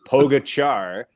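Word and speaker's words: Pogačar: that name and wondering how to pronounce it it's today like and pogo char even though there's no h in there um but yeah tade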